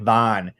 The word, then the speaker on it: Van: the message that like it says that it rhymes with like it that's ivan but like vaughn like van and otter and arter all have that same a sound oh the solid art